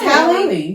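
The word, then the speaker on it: Halle: I keep saying her name wrong. That's right. It's Hallie. Yeah, it's Hallie.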